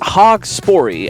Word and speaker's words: Haugspori: The level is pronounced Haugspori, House of Haugspori.